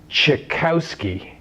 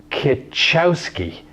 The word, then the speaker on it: Cichowski: Karen's last name before, the proper pronunciation is chi-KOW-skee. If you look at the name and the way it's spelled, you might think that it's ki-CHOW-skee. But that's actually not correct.